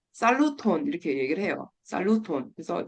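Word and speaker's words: saluton: 그래서 처음 만나면 이제 안녕하세요 얘기할 때 살루톤 이렇게 얘기를 해요. 살루톤. 그래서 그냥 발음기 없이 그냥 그대로 읽으시면 돼요.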